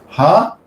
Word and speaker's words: Hare: Hare, 2 syllables.